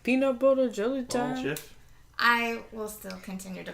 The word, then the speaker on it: GIF: That I And don't he know how to says pronounce it's- that, but he says it's like the peanut butter. So GIF. Peanut butter jelly Oh, time. GIF.